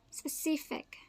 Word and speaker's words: specific: iron iron let's look at the next one specific specific don't get con uh confused with the